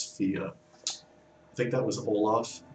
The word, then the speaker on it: Fe: a little bit but the rest of them correctly pronounce it as fear i think that was